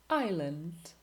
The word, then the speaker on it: island: Silent S. Island.